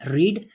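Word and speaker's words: read: Means spelling तो देखिए दोस्तों सेम है, बट इसका प्रोनाउंसिएशन अलग हो जाता है। इट मीन्स कि रीड, रेड, रेड। देखिए प्रोनाउंसिएशन का फर्क आ रहा है।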